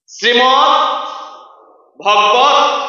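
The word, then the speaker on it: শ্রীমদ্ভগবদ্গীতা: গীতার পুরো নামটা কি হবে জোরে বলবেন শ্রীমদ ভগবত উচ্চারণ হবে শ্রীমদ ভগবত গীতা আবার শ্রীমদ ভগবত গীতা অনেকে ভাবছেন আমি প্রফেসর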